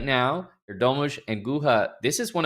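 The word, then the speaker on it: Erdoğmuş: What is the pronunciation now, Ahmad? Yez Erdomush.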